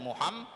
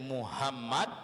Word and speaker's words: Muhammad: dalam lafadz Muhammad Muhammad harus betul-betul kita mentasydidkan Muhammad Muhammad Jalan sate Muhammad Apalagi kita mu hanya itu dirubah menjadi hahaha Hai yang artinya Muhammad itu orang yang sangat terpuji kemudian karena kita itu membacanya secara enteng secara ringan menjadi Muhammad yaitu hak berubah menjadi hak itu artinya menghancur menghancurkan ataupun orang yang dihancurkan karena dari kata Hamada